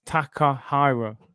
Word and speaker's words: Takahiro: Takahiro. It's Takahiro.